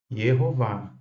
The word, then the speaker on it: Yehová: Também vimos a respeito do nome do Pai, Yehová, Jeová Deus. Em hebraico, aqui nós temos duas sílabas, Yeho, e depois Vá.